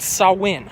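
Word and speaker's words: Samhain: a pagan holiday a Celtic pagan holiday called saw win I think I'm pronouncing that right well Pope Gregory the 3rd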